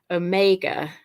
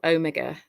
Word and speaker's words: Omega: the last letter of the Greek alphabet is Omega or Omega and that printer and that says the sound